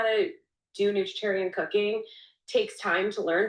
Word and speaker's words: nutritarian: Not not you pronounce that term nutritarian perfectly. Oh my word. Not vegetarian. Nutritarian.